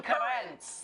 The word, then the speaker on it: Currence: they called in Southern chef and author John Currence. And he's, did we pronounce it right?